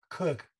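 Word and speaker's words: Kurkh: what they call a stella was found at kirk spelt with with a k k-u-r-k-h as we see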